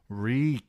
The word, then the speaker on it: Reek: Reek, Reek, it rhymes with meek."